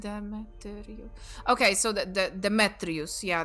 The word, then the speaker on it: Demetrius: But yeah, I think it's actually accent on third syllable from the end. Demetrius.